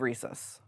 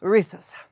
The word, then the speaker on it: Reese's: that fantasy also love recess love recess what's recess Reese's okay how do you say that rhesus rhesus Reese's Reese's Reese's Reese's Reese's yes there we go perfect okay well um